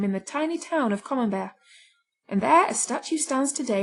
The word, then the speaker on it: Camembert: is the best since common bear rhymes with beware if you can't get